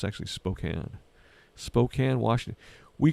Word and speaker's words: Spokane: Spokane yeah a lot of people have not pronounce it Spokane but it's actually Spokane Spokane Washington we C we call my sister